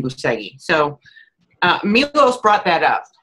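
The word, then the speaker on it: Bucegi: So it was a few months ago, and Milos brought up Buceghi. And I know that's not how you say it. I do believe the Romanians say it Buceg, but we've just been saying Buceghi.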